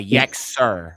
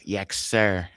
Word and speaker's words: Yexer: It's a Yexer, like the C is pronounced as an S, Yexer. If you use the Hebrew or the Abarith, it would be Yexer, because you would have that Samak instead of that Kat in the Hebrew.